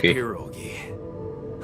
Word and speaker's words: pierogi: Her famous pierogi. That's the pronunciation.